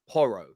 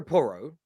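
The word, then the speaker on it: Porro: in for Pedro um I think it's pronounced uh poro Pedro poro of he's right back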